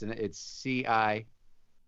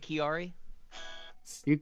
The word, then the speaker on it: Ciari: He goes, yeah, it's CIARI for cock it and rocket. I like that. Yeah, I know. So you how do you pronounce it? Chiari? You pronounce it like an S, Ciari.